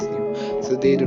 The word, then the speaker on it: Nu: just a mess it up like they call pronounce it both like mu it's mu it's mu it's new it's new so they do not get the difference so